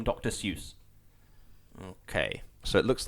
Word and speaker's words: Seuss: the pen name dr seuss okay so it looks like he might not be an actual doctor oh it rhymes with voice so soyuz is it not sus